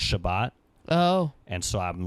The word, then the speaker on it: Shabbat: So they pronounce the S's as T's, so it's Shabbat.